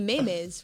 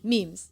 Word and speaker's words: memes: that one yeah you do get some quality maymays is that the pronunciation i i thought that that's what it